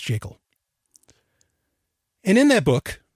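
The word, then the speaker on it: Jekyll: for a good reason it's the creature from jakel island yes it's pronounced jiggle and in that book g ever griffin clearly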